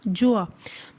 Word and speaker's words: Gjoa: जिसका नाम क्या था, जोआ। ये GJOA, तो जी जो है वो साइलेंट है, तो हम इसको प्रोनाउंस करेंगे जोआ। तो उसकी जो शिप थी उसका क्या नाम था, जोआ।